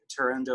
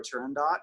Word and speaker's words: Turandot: And then also I will play, I don't know how different people pronounce it, either like turando or turandot, because it's so soft and it's high.